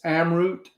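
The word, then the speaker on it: Amrut: I don't know how it how it's pronounced. It's Amroot. Uh, Am R U T.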